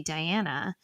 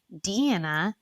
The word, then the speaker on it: Diana: and you want to look at your name and say Diana but it's Deanna and Lisa I was